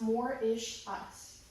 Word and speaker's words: Mauritius: The only place that the dodos ever lived was on the island of Mauritius, pronounced Mauritius. Mauritius is smaller than Rhode Island.